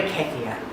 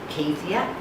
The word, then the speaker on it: kefir: enjoy your kombucha water kefir kefir depending on where you come from your dictionary how you pronounce it typicas is its real